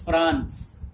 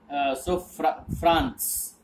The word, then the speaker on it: Franz: His name is Franz, F-R-A-N-Z. So Z will be pronounced as S. Franz.